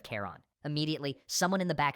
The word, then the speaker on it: Charon: Sharon, I said it like Charon instead of Kon.